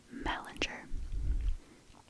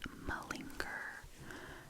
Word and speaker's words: malinger: It was minger. Oh my god, I said that wrong. Malinger.